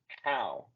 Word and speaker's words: how: Es muy parecido al sonido de la A que hacemos en español, pero es un poco más abierta. A. How. How. Es importante no pronunciarlo como lo leeríamos en español, porque cuando lo pronunciamos con el sonido de O, es una mala palabra en inglés, es una grosería. Así que vamos a tratar de pronunciarlo con el sonido A.